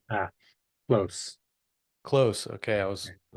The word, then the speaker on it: Kloos: your last name ah close close okay I was I was going to say clu yeah everybody says clu it's dutch so it's got that long o well Scott clu welcome